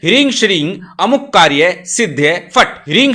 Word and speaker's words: श्रीं: हिंग बोलना है। श्री बोलना है। हिम नहीं बोलना। श्रीम नहीं बोलना। यहां पर अनुस्वार में ग का उच्चारण करना है। मैं का उच्चारण नहीं करना।